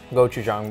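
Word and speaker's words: 고추장: And you don't know how to pronounce gochujang, but gochujang. That's totally fine. I'm Korean. Yeah, but you're not pronouncing it correctly. Gochujang.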